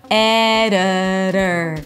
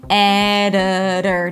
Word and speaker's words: editor: The I is a schwa, the O is a schwa, so both of them are reduced and they sound the same. Listen. Editor. Not editor. Editor. Primary stress on the first syllable. This is where you go high in pitch.